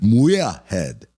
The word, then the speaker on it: Muirhead: How do you say it? Muirhead. No hard R in there.